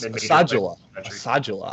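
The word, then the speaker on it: Asadullah: Asajula. I found that it's pronounced that way watching the game. So Asajula, excuse me.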